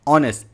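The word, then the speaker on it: honest: इसमें के साइलेंट है ऑनेस्ट एच ओ एन ई एस टी है लेकिन इसमें एच साइलेंट है जिसके वजह से आपको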